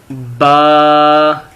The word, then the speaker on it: ب: یہ دیکھیں، یہ ہے با۔ کیا ہے یہ؟ با۔ با تب پڑھا جاتا ہے جب دونوں ہونٹ آپس میں ملتے ہیں، اور انگلش میں اس